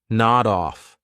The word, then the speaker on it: nod off: Nod off is a phrasal verb, so we'll pronounce it as one word. Nod off. So notice I'll take that D sound and I'll connect it on the off, but I have to combine it together.